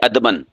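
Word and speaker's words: ادباً: دیتے ہیں ادبن، ہمیں ادبن استاد کے سامنے ایسے بیٹھنا چاہیے، ادبن، دال کو ساکن کر دیتے ہیں، یہ غلط ہے۔ صحیح کیا ہے؟ ادبن، یعنی دال کے اوپر کیا پڑھنی ہے؟ زبر۔ یہ عربی زبان کا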